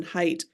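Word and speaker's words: Haidt: favorite authors um Jonathan height although his last name is spelled h AI DT but it's pronounced height um just I think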